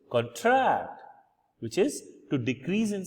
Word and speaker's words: contract: what LE lexim mean so the word contract which is a noun again we are focusing on the first syllable that is this particular part which is capitalized which means a written or a spoken agreement especially one concerning employment sales or tency and the other one which is supposed to be a verb where we put stress in the second syllable which is contract which is to decrease